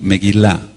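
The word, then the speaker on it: מגילה: decir rollo o pergamino meguilá meguilá con acento en la en la fonética meguila m e g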